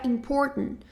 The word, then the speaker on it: important: Um outro exemplo também de uma palavra que a gente fala assim seria important, né? A gente acaba não pronunciando esse t important.